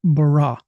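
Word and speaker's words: ברא: It is Beit Resh Aleph is the Hebrew letters, and it's pronounced bara.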